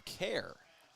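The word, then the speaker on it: Kjaer: Said KJ R pronounced care.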